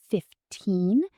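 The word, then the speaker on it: fifteen: For the teen numbers, like 15, the stress is strong on the second part and the N sound is long. But for 50, the stress is on the first part and the end is very short.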